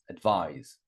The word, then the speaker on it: advise: Advise, second syllable. Advise. Agree.